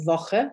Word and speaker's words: Woche: So W is a V sound, like I just said, Woche starts with a W, or V, meaning how.